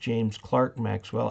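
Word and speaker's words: James Clerk Maxwell: that i cannot confirm nor deny okay it's pronounced james clark maxwell actually he went by his middle name clark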